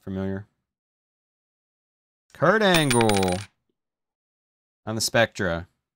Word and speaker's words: Spectra: one Umaga not familiar Kurt Angle on the Spectra pronounce it right for once I always say Specter for some reason the A and the r